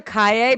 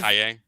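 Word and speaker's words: Calle: I remember Sasha Kale getting cast at Callie. I'm getting saying cast- Sasha Kaye because Kaye. it's what I think is how somebody who speaks Spanish would pronounce 2 L's.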